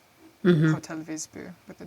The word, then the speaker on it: Wisby: It's spelled with a W. Mm-hmm. Hotel Visby with a W.